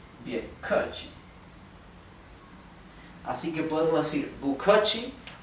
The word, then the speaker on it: 不客气: Y otra palabra muy comúnmente usada es bukachi. Bukachi es de nada. Son 3 sílabas. La primera sílaba significa no, bu, ¿sí?